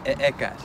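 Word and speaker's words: ehecatl: the English word house, but in classical Nahuatl, it would be pronounced with the glottal stop, as in e'ekat, which means wind.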